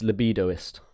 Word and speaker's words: libidoist: So the next one, I'm not sure if I'm not pronouncing this right, is libidoist asexual. It's libidoist. Libidoist, yeah.